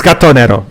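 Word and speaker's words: Gatto Nero: It's Gatonero. That's how you say it.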